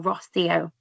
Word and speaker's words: Rosio: And if you're struggling to remember how to say her name, just remember she lives by the sea. So, Rosio.